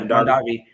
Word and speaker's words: Mondavi: It was a 1974 Robert Mondavi. Mondavi? Is that how you say his name? Mondavi. Yeah, Mondavi.